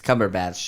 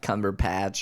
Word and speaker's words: Cumberbatch: his his last name it's Cumberbatch just so everybody's clear not cumber patch or cumberbottom or anything I mean if it